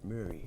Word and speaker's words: Murray: Just like his name, I pronounce it Murray. Murray.